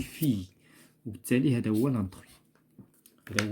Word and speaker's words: fille: هنايا عندنا هادو كاملين كينتهيو ب اي 2 ال او ولكن هذه ça se prononce d'une autre manière. Donc on dit fille.